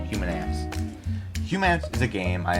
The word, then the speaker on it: Humants: Humans, pronounced human ants. Like human ants.